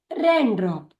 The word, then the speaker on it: raindrop: एक साथ पढ़िए रैन ड्रॉप, रैन ड्रॉप। हमारा अगला शब्द है PLAYMATE। पी का उच्चारण प्ल, ए का उच्चारण ए का उच्चारण